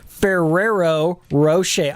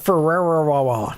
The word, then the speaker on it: Ferrero Rocher: ray cortex yes but you're pronouncing it wrong it's ferrero rocher i i call it ferrara okay whatever it's good